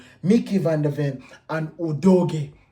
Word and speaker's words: Udogie: We are going to go with Pedro Porro, Christian Romero, Mickey van der Ven, and Udogie. Bear in mind, say it right. Udogie. You understand? It's a Nigerian name.